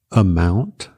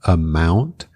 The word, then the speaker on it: amount: Amount, que é quantia ou quantidade, amount, como se o O fosse um E com acento, amount.